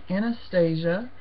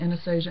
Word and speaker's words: Anastasia: Now on YouTube, I hear some people calling it Anastasia and some people calling it Anastasia. I will probably always call it Anastasia because my daughter's name is Anastasia and we pronounce it Anastasia here.